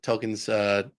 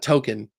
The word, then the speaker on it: Tolkien: that he's been saying Tolkien's name wrong, because it's Yeah, not Token, it's Tolkien.